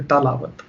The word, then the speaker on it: tilawat: Another mini question that was asked after that was, is it tilawat or talawat? तो तिलावत होता है या फिर तालावत?